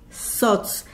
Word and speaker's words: Tzotz: Se escribe TZOTZ. SOTS, insisto, quiere decir murciélago.